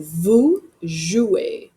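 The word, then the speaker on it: vous jouez: That ez makes an a sound. So vujouer.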